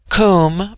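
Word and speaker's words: Koom: Immortal Spirit Vidya immortality comb pronounced like the Welsh comb denotes something of hollowness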